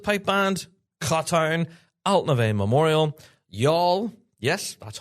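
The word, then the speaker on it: Youghal: Followed by Money Gore, Queen Elizabeth Pipe Band, Katan, Alnave Memorial, Y'all. Yes, that's how you pronounce that.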